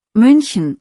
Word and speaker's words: München: Die Umlaute sind wichtig, München hat ein Ü, der Mund ist vorne.